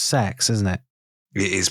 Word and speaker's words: CeX: learned how that it's actually pronounced Leal it's pronounced sex isn't it it is pronounced sex they are sex shops yeah I went to